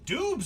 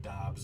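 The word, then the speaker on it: Doubs: we got nice romeo dubs out of a hundred gold pack go there you go sean romeo noobs i know it's like i know it's pronounced like dobbs but i call them dubs i call them dubs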